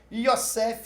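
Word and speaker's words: יוסף: então vamos lá josé m hebraico e se pronuncia cef yossef significa iaver acrescenta você já viu os acrescenta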